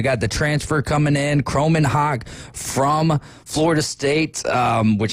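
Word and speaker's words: Kromenhoek: and then to go look up the uh pronunciation on Mississippi State and they've got a perfect I love it says Chrome in Hawk.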